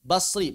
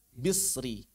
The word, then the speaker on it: Basri: Demikian juga ini adalah pendapatnya wal hasanil bashri. Boleh dibaca bashri, boleh dibaca bisri.